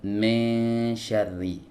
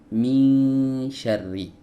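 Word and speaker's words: مِنْ شَرِّ: Banyak yang membacanya itu dengan miring, teman-teman. Ya, me syarri, bukan me syarri tapi mi syarri.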